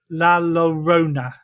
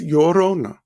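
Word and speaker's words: Llorona: I think this one's a little bit easier for me to say the laurona. Well, the two L's in Spanish is pronounced like a Y. Okay. So that's Yorona.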